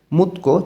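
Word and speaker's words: 묻고: নিচে আছে ইউহ্যাং ভ্রমণ, খিয়ং হমে অভিজ্ঞতা, থেহে সম্পর্কে, মুতকো জিজ্ঞাসা করা এবং গো দিয়ে এবং বোঝায়। তধ্বনির বাচ্চিমের পরে গেও কাছে গটা ক উচ্চারণ হবে।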